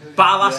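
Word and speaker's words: Barlaser: Barlasser. Yeah. Off air. He said it right every single time. Right. Barlasser, innit?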